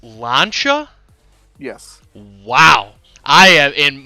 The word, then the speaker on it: Lancia: production cars really did you is this brand pronounced launcher yes wow i am in my brain has